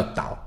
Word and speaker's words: 嶋: 诶，你看这个就知道，它的发音就叫岛。